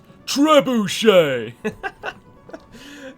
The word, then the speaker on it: trebuchet: too far isn't he where's tree from is it French probably because we don't pronounce the T which is the French way of speaking don't pronounce the final consonant unless there's a vowel following in the next word unless the next